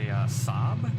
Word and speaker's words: Saab: coming in there's also a Saab Saab right Sab is how you pronounce that airliner which is interesting that'll